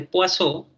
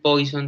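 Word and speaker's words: Poisson: distribución que se llama distribución de poiso se escribe así a poison pero no le vayan a decir poison delante y de un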